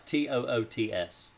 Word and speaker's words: Toots: i would pronounce that how would you pronounce t-o-o-t-s toots toots like you got bad gas or something i wouldn't want people